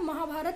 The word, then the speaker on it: महाभारत: देखिए हम लोग हिंदी में महाभारत लिखते हैं और महाभारत ही प्रोनाउंस करते हैं, लेकिन इंग्लिश में महाभारता लिखते हैं और महाभारत ही प्रोनाउंस करते हैं.